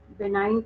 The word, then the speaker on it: benign: Differentiate between differentiate between benign tumor, BENIGN, G is silent here, benign tumor, and malignant tumor, malignant tumor, benign tumor and malignant tumor।